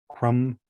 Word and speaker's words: crumb: So, it goes com tomb, limb, climb, crumb. You know, you don't you don't even necessarily pronounce the B.